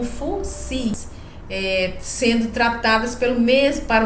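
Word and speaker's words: Fuxi: em outras biografias, o Fo-Hi sendo conhecido como Fu-Xi e sendo pronunciado como Fu-Si, sendo tratadas para o mesmo personagem, para o mesmo sábio.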